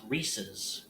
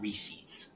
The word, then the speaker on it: Reese's: It's pronounced Reese's like pieces, not Reese's.